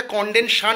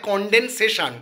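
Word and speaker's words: condensation: একটা জিনিস ভুল বলেছিলাম যে কন্ডেনশন মানে ঘনিভমনের ইংলিশটা কন্ডেনশন নয় কন্ডেন্সেশন ওর প্রোনাউন্সিয়েশনটা আমি ভুল বলেছিলাম তার জন্য আমি ক্ষমা প্রার্থী বন্ধুরা ওটা হবে কন্ডেনসেশন ঠিক আছে মানে কোন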